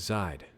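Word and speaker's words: Zeid: we know are you the one known as Zid and yes I looked it up I looked up the pronunciation I looked up the Katakana spell it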